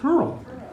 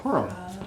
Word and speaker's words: Purim: It is the festival of Purim, or Purim, depending on how you pronounce it.